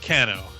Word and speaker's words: Cano: got to remember cuz it rhymes with Drano oh actually you had it correct Steve it's Cano I had it correct